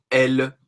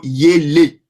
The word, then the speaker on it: ele: Parce que quand tu vois le ELE là, tu auras tendance à le prononcer elle. Voilà. Mais c'est plutôt yele.